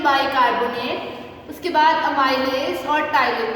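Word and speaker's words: ptyalin: उसके बाद अमाइलेज और टाइलिन। ये एक ही नाम है, ठीक है। अमाइलेज के लिए टाइलिन भी यूज होता है, पी साइलेंट होता है, इससे वो टाइलिन पढ़ते हैं।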